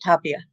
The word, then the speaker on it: Tapia: Tapia, they pronounce it Tapia.